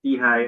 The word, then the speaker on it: SIHI: So as I said earlier on, we pronounce SIHI as SIHI.